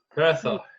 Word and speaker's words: Hertha: Hertha. Pronounced Hertha Berlin. Anyway, that's okay. I say Hertha. You can say Hertha.